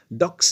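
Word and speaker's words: billet-doux: Bill rate डू pronunciation इसका देखेंगे, bill rate तो बिलेट ही है, बट जो DOUX है उसे डॉक्स नहीं डू पढ़ा जाता है।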